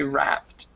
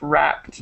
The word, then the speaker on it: wrapped: this word wrapped okay so when you have an ed at the end you don't always add the extras syllable so this one would be wrapped okay so WRA isn't it right wrapped okay okay right so you do pronounce the d at the end it's kind of hard to hear sometimes but it's wrapped wrapped okay